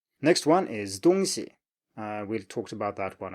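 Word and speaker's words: 东西: Next one is 东西.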